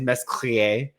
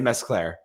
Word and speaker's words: Mescler: My last name is Mesclier. So, but it's but in America we say Mesclair.